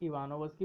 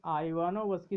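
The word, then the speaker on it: Ivanovsky: आप इसको इवानोवस्की भी पढ़ सकते हैं, आइवानोवस्की भी पढ़ सकते हैं, लेकिन आइवानोवस्की सही है। इवानोवस्की ये उच्चारण सही नहीं है।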